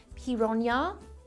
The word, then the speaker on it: piranha: The name piranha comes from the Tupi-Guarani Indian derivative, pira meaning fish and rana meaning teeth. In fact, it's meant to be pronounced piranha. Hang on. Piranha. Piranha. Piranha, the toothed fish.